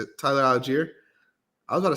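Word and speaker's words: Allgeier: Tyler Algier. I was about to say Aguilera.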